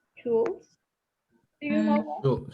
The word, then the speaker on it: Schultz: but then Howard, I don't know how to pronounce it. It's Schultz. Do you know that? Schultz. Schultz? Schultz.